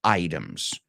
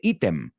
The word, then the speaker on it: item: And today we're going to take a look at personal items. Well, we're going to take a look at several things. Primero no se dice ítem. It's item in English.